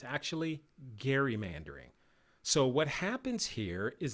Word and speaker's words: gerrymandering: we call gerrymandering and gerrymandering is pronounced like the name gary but it's spelled g-e-r-r-y so it's looks like gerrymandering but it's actually gerrymandering so what happens here